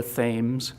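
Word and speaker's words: Thames: find ourselves here at the mouth of the Thes, as they pronounce it, river and the city of New London.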